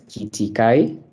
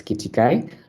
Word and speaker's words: Kitikai: My name is Kitikai, and it's pronounced as Kitikai. There's a time someone had a hard time pronouncing it, but it's Kitikai.